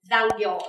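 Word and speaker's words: 残業: Mình sẽ có cách đọc là giang kiểu ですね.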